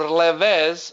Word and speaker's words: LVZ: Now, special chart patterns, guys, are T89, which is called tail 89, L, VZ, or Levez, I call it Levez pattern, because it's hard to pronounce LVZ every time. So it's Levez, low volatility zone, and CBR, or consolidation breakdown reversal.